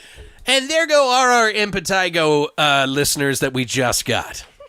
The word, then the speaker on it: impetigo: like it's it's pronounced in Pedigo but it's pronounced impetigo okay so essentially impetigo is a highly contagious